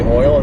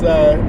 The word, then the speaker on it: oil: Hearing Trace and people from Oklahoma say oil is so funny to me. Because it's just they say it like it's OIL. It's oil. It's not. It's one syllable. Oil. Which I remember Nate Bargatze and said oil.